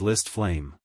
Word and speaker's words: List Flame: My name is List Flame. Hang Chi, come, repeat after me, List. Lazy, T. That's right, just say it like this, List. Flame.